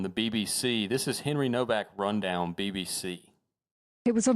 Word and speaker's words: Nowak: How about we revisit Henry Nowak? Okay. And I think it's actually pronounced Novak.